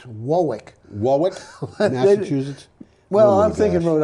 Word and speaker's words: Warwick: and if you say warwick they laugh at you well it's not quite warwick it's wowick wallace's well i'm thinking